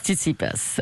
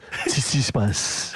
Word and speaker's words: Tsitsipas: C'est pas la bonne prononciation. La bonne prononciation, c'est on dit Stefanos Tsitsipas.